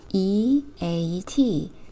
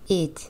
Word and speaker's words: eat: 먹는다, E, A, T, eat. EA는 이중 모음으로요. E 발음이 나고요. T는 T 소리.